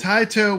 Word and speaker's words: Taito: not sway the vote taito would be the correct Japanese pronunciation so I think it's time the poll is closed it's time to blow up area 51.